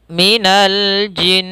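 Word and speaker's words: مِنَ الْجِنَّةِ: pada lafal Minal jinnah di sini ada alif lam tapi di sini Alif lamnya adalah alif lam qamariyah yaitu alif lam yang mana lamnya Masih terbaca maka Minal kita baca lamnya jangan jelas Minal tidak seperti allzi yang tadi di mana Tidak dibaca lamnya maka Minal pfal jinna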